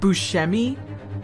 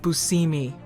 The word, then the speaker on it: Buscemi: themselves like steve buscemi for the longest time his family actually pronounced his name steve buscemi but then he went to fricken italy and the italians said steve buscemi so who cares